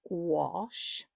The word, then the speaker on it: gouache: and the correct way of pronouncing it is gash. It is spelled it looks like it's gash. And I have to say I say gash.